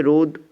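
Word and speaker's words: ρ: এই যে রো sign দিয়েছি এটাকে কীভাবে উচ্চারণ করতে হয়, সরি, রো বলে উচ্চারণ করতে হয়। এই যে রো সাইন দিয়েছি এটাই হচ্ছে তোমাদের রোধাঙ্ক, ঠিক আছে। তো এই যে আমাদের ফিগারে এলো, যখন রোধের সঙ্গে আমরা লেন্থ এবং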